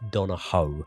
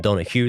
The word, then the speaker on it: Donohoe: It is Noah Dono rather than Donna Hugh the way I was pronouncing it.